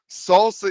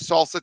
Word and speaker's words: SLSA: so can you use salsa today absolutely and by the way that's how it's pronounced slsa is pronounced salsa so can you use